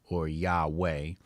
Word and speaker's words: Yahweh: do it so it's Yahweh the issue is especially in German the W is pronounced with a V sound so some people will